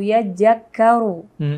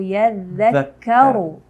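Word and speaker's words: يَذَّكَّرُ: Au yajakkaru. Harusnya au yadzakkaru. Padahal penempatan huruf zal itu adanya di ujung lidah, di antara gigi seri atas dan bawah. Jadi pengucapan huruf zal itu memang sangat lembut. Tapi karena di sini ada tasdid, tanda tasdid atau syiddah, maka zalnya ini sedikit lebih tegas cara membacanya.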